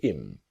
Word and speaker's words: him: So our focus is on him to im. The idea again about her to is native speakers don't always pronounce the letter H when we speak quickly.